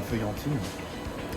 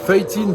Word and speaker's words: feuilletine: que tu as la feuillantine. C'est incroyable. Tu as vraiment ce goût bueno, très prononcé. C'est validé, hein. Feuilletine, pas feuillantine. Parce que feuillantine, c'est avec du jambon et la vie dedans.